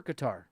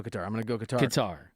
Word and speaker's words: Qatar: You say Qatar or Qatar? You're a Qatar guy. I'm a Qatar guy. Wait, is that how you say it? So Qatar, I've kind of gone with Qatar, but then I had someone tell me they want to roll Qatar, so I just kind of mix it up.